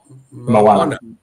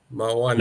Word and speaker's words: Moana: Moana. Moana. Yeah. You know, like the Disney movie.